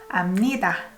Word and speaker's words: 압니다: You don't pronounce B here. B sounds more like M. 압니다.